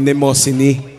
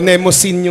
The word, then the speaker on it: Mnemosyne: Anyway, this is a song about, well, recently nalaman namin na ang tamang pronunciation pala ng kanta namin ay Nemosyne. Oh, ganun, Nemosyne. Nemosyne. Pero Nemosyne yung basa namin.